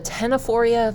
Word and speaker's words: Ctenophora: Okay, so picking up with the Ctenophora, the C is silent.